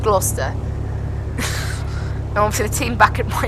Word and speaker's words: Gloucester: That's how you should pronounce it, but obviously it's called Gloucester.